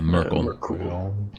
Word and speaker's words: Merkul: Yeah, Merkul. Kind of like Urkel, but he's a death god, bro.